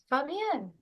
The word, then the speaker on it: Fabienne: Very happy to welcome Fabienne.